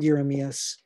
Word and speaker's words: Jeremias: that goes beyond um beyond euromeas spelled like jeremias is brent petrie's work